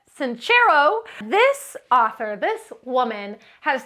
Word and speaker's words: Sincero: you are a badass by Jensen's chero that's how she pronounces it sincero this author this woman